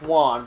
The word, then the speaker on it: Juan: No, it's pronounced Juan, but one of the characters I believe in the first game mispronounced it, like on purpose.